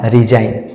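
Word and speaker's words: resign: के बाद एन आया इसमें भी जी का उच्चारण नहीं होगा और सीधा-सीधा क्या पढ़ा जाएगा रिजाइन रिजाइन जी का उच्चारण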